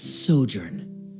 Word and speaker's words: sojourn: everything clear uh directors osimos how do you pronounce this word let me see Ah that's sojourn it means to stay for a while this